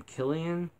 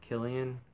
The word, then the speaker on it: Cillian: I think you pronounce his name Killian. I'm not positive. It's spelled with a C, but I think it's pronounced Killian, or otherwise it's Cillian.